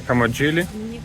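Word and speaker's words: Camogli: приехали город называется камоли как камоли камоли А что там ли не читается лимо город называется вот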